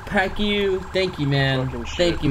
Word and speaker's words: Pacquiao: His last name is pronounced Pacquiao. Pacquiao.